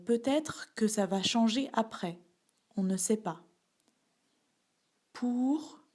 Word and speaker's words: après: prononce pas le thé après à près ici aussi on ne prononce pas le s donc avant maintenant après